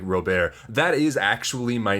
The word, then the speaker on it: Robert: So like, you know, even even using the stage name like Rober, that is actually my name. I spell it differently. My name is Robert, but I I'm French, so I pronounce it that way.